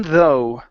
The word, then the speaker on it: though: next up we have the word uh though right here so even though even though yeah so the GH at the end is not pronounced okay so one more